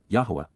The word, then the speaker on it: Yahowah: For how long, Adma, until when will the eternal witness and restoring testimony of Yahuwah, Yahowah, the proper pronunciation of the name of Eloah, God as directed in